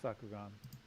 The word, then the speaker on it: Sakugan: be in the SS Sakugan. Did I say that correctly? Because I pronounce stuff really bad. Yeah, it's Sakugan.